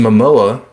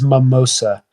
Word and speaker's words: Momoa: Joker and a Jason Momoa playing Lobo if you don't know who Lobo is look him up I don't want to always want to say his name as Mimosa but I know that's wrong Jason you know Jason